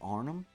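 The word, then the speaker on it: Arnhem: I believe it's pronounced Arnum. Arnum, I think.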